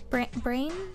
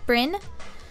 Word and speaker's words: Bryn: And then at you, Bren. Am I pronouncing that right? Bren, Breyn. Brain? No. Bryn. Sure.